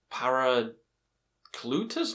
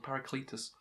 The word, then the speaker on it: Paracletus: it is paracletus yeah I always said I said I said something different for this album for a long time like par cutas I don't know I said the wrong pronounciation for a long time people berated me on it for so long but now I've got the right one paric Cletus this album is complete